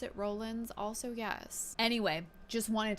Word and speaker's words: Rollins: of those she sucks do I know it's Rollins now yes do I still want to pronounce it Rollins also yes anyway just wanted to come on